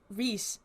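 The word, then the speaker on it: Reisz: I forget Michael Ree. I think that's how you say his name is R E I S Z. Yeah, that's probably Reese. Yeah, that would Yeah, Michael Reese.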